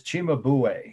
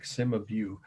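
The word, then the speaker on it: Cimabue: virgin and child enthroned again one more time it's spelled e-n-d-h-r-o-n-e-d the artist's name is chima buway i know it looks like sima view that's how they'd say in indiana the italian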